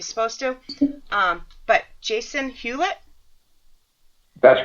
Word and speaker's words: Hewlett: here because of my massachusetts roots i don't pronounce anything like you're supposed to um but jason hewlett that's right c c some names i get